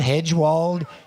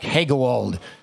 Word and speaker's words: Hegewald: He can be called Hedgewald. All kinds of pronunciations for that last name, but he's Mark Hegewald.